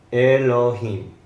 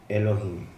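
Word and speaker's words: אֱלֹהִים: Entonces, esta es la E. L con O, esta es la H, la I. En este sentido no se pronuncia la Yod porque es parte de la I y la M.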